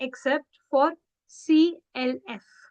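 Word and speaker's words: français: only for the reason to change the sound of क टू स for example it's never from के इट्स फ्रॉसे it's never लेकन it's less less it's never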